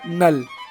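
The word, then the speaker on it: Knull: था जिसका नाम था नल हां के वाला नल के साइलेंट है ये जो गोड था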